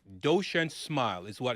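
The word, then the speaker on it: Duchenne: So, there's a term and it's called doshen, right? Doshen lie. So that is that it's spelled d u c h e n e right doshian smile is what it's called.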